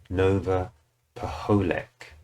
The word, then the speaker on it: Paholek: So that's Nova, because someone told me that's her surname and I didn't pronounce it right. Nova Paholek.